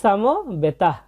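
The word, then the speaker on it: সমবেতাঃ: কুরুক ক্ষেত্রে এরপর আছে সাম বেতাহ এখানে আমরা দুইটা জিনিস খেয়াল করব প্রথম যে বর্ণটা আছে সেটা হচ্ছে দন্তস এই দন্তস এর সঠিক সংস্কৃত উচ্চারণ হচ্ছে ছ অক্ষরের মত সাম এবং শেষে একটা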